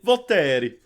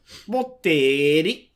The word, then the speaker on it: Volterra: to Italy, to the Volterra. I don't know if I'm saying that right. And basically, he's going there to. Oh, you didn't say it right. You have to say Volterra. Volterra. He's going there.